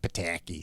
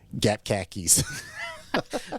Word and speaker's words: Pataki: poked fun at then New York Governor George Pataki's name um with you know the Indiana accent George Pataki all the time and so in one of